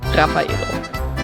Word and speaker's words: Raffaello: And then I wasn't satisfied, so I also had some Raffaello. I don't know why I say it like that. And usually in Germany we say Raffaello.